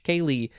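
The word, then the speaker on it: ceilidh: pick kaylee and specifically the more complicated spelling c-e-i-l-i-d-h kaylee which is a party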